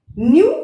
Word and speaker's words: new: न्यू एंड नू. न्यू is British English, नू is American English.